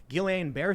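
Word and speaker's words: Guillain-Barré: say however to charlie guillain-barre syndrome which i'm probably pronouncing wrong always mispronounce it bar there you go yes uh my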